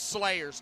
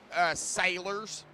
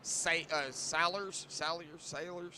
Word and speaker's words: Salyers: It's Slayers to me, folks. It's Slayers right now. Austin Slayers. Wait, so what's his real name? Sailors. S-A-L-Y-E-R-S. Sailors.